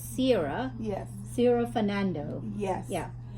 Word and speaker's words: Sera: actually, it's Sarah, but it's spelled S-E-R-A. Yes. So it's Sarah.